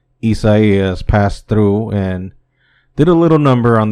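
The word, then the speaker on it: Isaias: the weeken hurricane isas I don't know how to pronounce how to do the English from Spanish translation so I'll just say how is supposed to be said properly isai has passed through and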